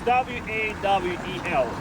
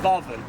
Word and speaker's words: Wawel: It's W-A-W-E-L. We pronounce this a Wawel. In Polish language, there is no letter V. So W is V, like in German, Wawel.